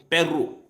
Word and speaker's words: Perro: The R should be hard like in Spanish. Perro.